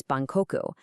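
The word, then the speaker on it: 万国: Take the word for all nations. In Korean, it's man guk. In Japanese, it's ban koku.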